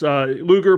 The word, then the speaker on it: Luger: Luger pronounced like the old 1990s wrestler, Lex Luger.